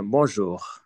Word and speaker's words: bonjour: হ্যাঁ, বঁজোর, ঠিক আছে, বনজোর, এনটা নাকে চলে যাবে আর কি, বং, হ্যাঁ, বঁজোর এরকম আর কি।